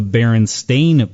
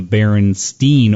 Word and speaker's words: Berenstain: now known as the berenstain bears but many people remember it being the Berenstein or Berenstein bears however you want to pronounce the STI n instead of s T AI N and there's a couple